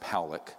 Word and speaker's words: Pollock: This man, William Pollock, his name is pronounced Powlick, was a man, very good man, who gave me an interview only to be released posthumously after he died.